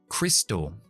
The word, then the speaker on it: crystal: Aquí tenemos la Y que puede ser, en más casos se pronuncia como la I latina que como la Y en amarillo, por ejemplo, yellow. Así que esto es una I, crystal.